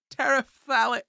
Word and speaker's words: terephthalic: Terephthalic acid and ethylene glycol. I know that it sounds like I'm pronouncing it wrong, but it's quite literally spelled TERETHALIC. Terephthalic.